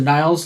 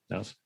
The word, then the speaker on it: Nils: Is it Nils or Niles Lofgren? Nils Lofgren, yeah.